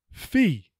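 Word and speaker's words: phi: the pronunciation it seon fee just like you pay a fee if you don't make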